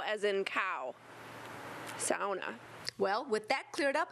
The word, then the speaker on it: sauna: Yeah, they say sauna instead of sauna. And if you look it up in the dictionary, it tells you sow as in cow. Sauna.